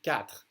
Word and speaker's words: quatre: Q, as in quatre. The U is silent.